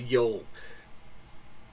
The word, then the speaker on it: yolk: going to say it's yolk hi up eggs have a runny Yol but that second time she didn't say the L the second time it sounded like she just made a long o that's right when you